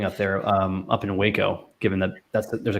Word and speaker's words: Waco: there um up in waco given that that's there's a college community up there it's pronounced wacko by the way oh wow yeah wacko um what do you